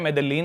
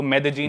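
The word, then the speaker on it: Medellín: Spelling में उसमें double L आता है, मेदेलीन होता है, लेकिन कोलंबियन स्पेनिश में ल को ज बोलते हैं, तो मेदेजीन। वो शायद उसकी मेन सिटी है ना उस कंट्री।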